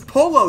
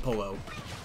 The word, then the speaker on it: Pollo: But it's pronounced Pollo, because different languages, my bad. I keep on pronouncing it Pollo. Sorry. Pollo has one L. That's Pollo, pronounce with a Y.